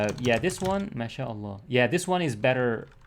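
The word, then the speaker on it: ما شاء الله: uh the best way to explain it so masha allah as i said it's better not to write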